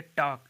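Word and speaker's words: talk: TAL के टॉक, टॉक का मतलब बातें करना।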